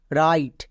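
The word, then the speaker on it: write: silent যেমন এখানে দেখো ডব্লিউ শুরুতেই আছে তার মানে ডব্লিউ সাইলেন্ট তাহলে আর আই টি ই রাইট বোঝা গেল ডব্লিউ কখন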